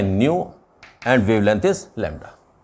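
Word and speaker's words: ν: तो थोड़ा प्रोनाउंसिएशन में स्लाइट डिफरेंस है, एंड नॉर्मली इसके लिए म्यू प्रोनाउंस करते हुए आप लोग बहुत मिल जाएंगे। ध्यान रखें, इट इज़ न्यू, इट इज़ म्यू।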